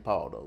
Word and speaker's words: Pauldo: number four and then my last name Paulo that's Waldo with a p love that but we spell it with the Au like PA does anyone ever say